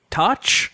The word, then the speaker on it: Toch: You were working, so Dan Cummins says, "How do you say your other guy's name? Is it Toch?" And we said, "Yep, yes, it is. That's exactly how you pronounce it. Way to go."